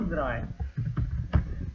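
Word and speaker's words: drei: три Як ви пам'ятаєте це є ш або Драй dрай р читається як р а не як р якщо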